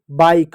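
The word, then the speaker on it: bike: आई बाइक लाइक mic nice वहां पास nice वहां स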